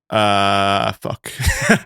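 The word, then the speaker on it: ewe: her own Memoir called uh called La Lance de brais which translated to aliance of the U what's E Wu how do you pronounce that U it's like a female lamb yeah is that you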